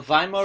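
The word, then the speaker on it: Weimar: Germany is called the Vimal Republic okay the Vimal republic w's pronounces a V German okay so we have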